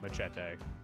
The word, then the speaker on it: machete: They pronounce it Machete.